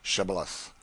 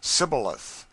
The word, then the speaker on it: Shibboleth: who could not say Shibboleth. The Ephraimites, being of a different tribe, could not frame to pronounce the word right, but called it Sibboleth, which proved them enemies and cost them their lives.